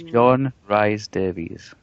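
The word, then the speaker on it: John Rhys-Davies: It's John Rhys Davies.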